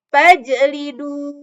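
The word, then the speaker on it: فَاجْلِدُوا: Makanya tidak boleh dibaca biasa fajlidu, tidak. Tapi yang benar adalah fajlidu.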